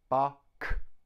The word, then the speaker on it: Bach: bark bark two syllables Bach notice the CH bark the CH is cut cut it's a hard sound so we have buck now that sound CH is also found in the word chemist chemist chemist so it's a hard k but it's spelt see H next up we